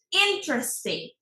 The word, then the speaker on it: interesting: Interesting. Otra palabra que también he escuchado. Interesting. Porque en español es interesante. El acento le ponemos en sante, interesante. But in English it's interesting. It's not interesting. No. Interesting.